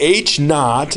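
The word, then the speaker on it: h₀: might teach it a little bit different basically h naught and it's just an H with a little zero little subscript 0 that's just pronounced H naught H naught is our initial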